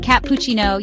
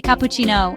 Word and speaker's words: cappuccino: You want to order a large cappuccino, but you accidentally stress the wrong syllable in cappuccino. Instead of saying cappuccino, you say cappuccino, and the barista looks puzzled.